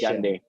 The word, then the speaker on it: Hyundai: Hyundai is the is the correct right pronunciation is Hyundai.